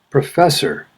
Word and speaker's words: professor: syllable embarrassing third syllable professor first syllable successful first syllable politics